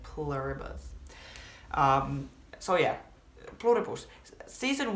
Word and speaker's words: Pluribus: I'm calling it pluribus just because that's the way we would pronounce it in Finnish and I don't want to try to be American. I want to try to say it like pluribus.